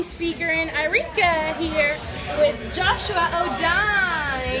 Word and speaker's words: Jo'shua: And this is your crazy speaker in Irika here with Joshua Odine. It's actually pronounced Joshua. Joshua Odine.